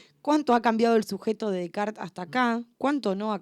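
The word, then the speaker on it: Descartes: por qué lo escribe de Kart es un filósofo francés si se escribe cartes filósofo francés que que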